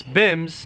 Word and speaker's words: BYMBS: cody michener with today's episode of bymbs pronounce bims blow your mind bible